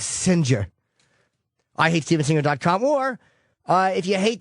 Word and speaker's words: Singer: It's spelled Singer, but it's Singer.